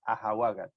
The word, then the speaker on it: ahawagat: And then if you want to say it in plural, you will say ahawagat, ahawagat. So the accent doesn't change. It's still the second last syllable, which has the accent, and then you just add this reduplication at the beginning.